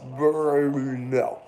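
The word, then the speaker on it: Brno: I said oh where's berno that's I think it's like the only city in the world world that has no no uh like lacking syllables it's b r n o Burno anyway berno and uh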